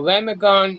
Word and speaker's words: Lamongan: Lamongan, East Java. East Java. Where? Lamongan. Lamongan. Maybe I'm not pronouncing it right. Lamongan. Lamangon.